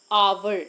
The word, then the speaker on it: hour: no we didn't uh the h in this word in this particular word is silent so how we pronounce